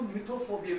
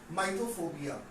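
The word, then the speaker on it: mythophobia: बहुत सारे लोग उसको मिथोफोबिया भी पढ़ते हैं, बट शुड बी प्रोनाउंस माइथोफोबिया, है ना।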